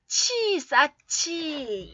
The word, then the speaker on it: 쌓지: 지읒이 히읗하고 앞에 히읗하고 지읒이 만났을 때는 쌓치 이렇게 난다고 했어요.